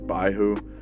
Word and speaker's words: Baihu: Devil Survivor 2 anime, it's pronounced Byakko in there, but in the actual games, like Baihu. So it's whichever word you want to actually use, like, it doesn't matter.